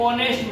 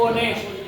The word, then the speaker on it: honest: fill in the blanks ऑनेस्ट मैन, इसमें क्या है एक तो एक आपका साइलेंट है, इसीलिए एच तो लिखा हुआ, एच क्या है साइलेंट है, इसमें पढ़ा जब ऑनेस्ट, ऑनेस्ट क्या आ जाएगा ऑनेस्ट,